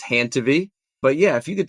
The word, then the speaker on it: Handtevy: It rhymes with your name. So it's Hantiv.